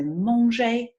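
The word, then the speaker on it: manger: so laundry and why you always need to imagine pronunciation wise that the a is an O okay to make sure that that pronunciation is right so Hmong J and blah I can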